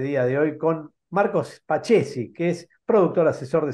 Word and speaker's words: Spaccesi: Me dice Spaccesi, está Ceci, lo mezclan. Está muy bien, Spaccesi, porque la CC en italiano es che.